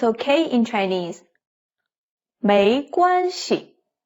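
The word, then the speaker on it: 没关系: 没关系. 系 is in the neutral tone. 没关系. 没关系. 没 no, don't have. 关系 relationships or impact. So 没关系 no impact.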